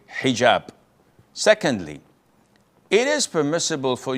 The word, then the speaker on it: hijab: And I know in France they don't pronounce the H when it is in the beginning of the word, as in hotel or hello.